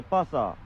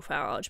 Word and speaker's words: Farage: Englishman, Nigel Pasa, don't talk shit. Nigel Pasa is his terrible pronunciation of Nigel Farage, by the way.